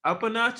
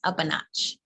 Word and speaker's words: UPANOTCH: definitely so when it comes to is it up a notch is how you pronounce it yes up a notch so when you first started it did you